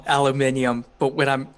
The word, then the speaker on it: aluminium: was going to say i'm going to pronounce it in the way that all of you hate aluminum see i i have the fun of of when i'm talking actual science i call it aluminium but when i'm like